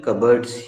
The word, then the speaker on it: cupboard: पे कर रहे थे, क्योंकि उसकी ये जो स्पेलिंग देख रही हो ना, बड़ी अजीबो गरीब स्पेलिंग है. उसमें कप और बोर्ड आता है, और मेहता मैडम उसको स्पेलिंग के हिसाब से प्रोनाउंस कर रही थी.